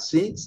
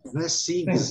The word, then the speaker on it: things: Sempre lembrando, esse G, things, não é things, não. Things. Esse G quase não é pronunciado, tá?